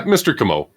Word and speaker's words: Comeau: Is that how you pronounce it? Kimo. Kamo. Yeah, Mr. Kamo.